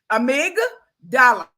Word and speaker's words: amygdala: I'm sorry, I'm saying it wrong. Let me spell it. A-M-Y, Amy, amygdala, D-A-L-A, amygdala.